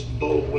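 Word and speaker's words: Boulware: Yeah, spell It's Bowler is how it looks. B-O-U-L-W-A-R-E.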